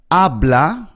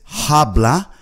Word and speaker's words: habla: So if you want to ask someone to speak slowly, you would say ablah. Now remember the H in Spanish is silent. So we do not pronounce it as habla.